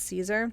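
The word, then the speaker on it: Siser: my absolute favorite is Caesar which is spelled it looks like slicer but it's it's pronounced Caesar that's my ultimate favorite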